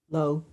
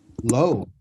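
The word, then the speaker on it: לא: How do you say no in Hebrew? Somebody tell me. Replace the letter N with the letter L. And what do you got? Low. Low.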